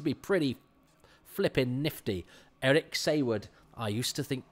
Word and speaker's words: Saward: Eric Sayward, I used to think, it's a funny name, Sayward, and I certainly used to think it was pronounced Saward until I saw a documentary about a true